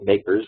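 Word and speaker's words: MACRS: And so the asset depreciation range is what they use when they calculate the makers table, modified accelerated cost recovery system, makers, that's the way they pronounce that.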